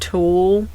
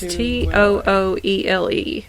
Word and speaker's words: Tooele: I'm going to start with I think that's just Tool Hospital. Or Tuele. Hold on. Let's do how to pronounce. It's Tooele.